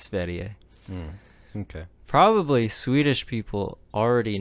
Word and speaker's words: Sverige: It's Sverige is how they say it, I believe. Is like the W pronounced like a V? Sweden. No, it's Sverige.